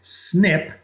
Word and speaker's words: SNP: is an SNP or how we pronounce it is snip a snip is essentially